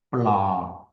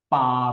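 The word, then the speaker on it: ปลา: 많은 태국 사람들 은 'l' 발음 을 하지 않습니다 . 그들 은 이런 소리 를 내 지 않아 요 . 그래서 우리 귀 에는 " 파 " 처럼 들립니다 .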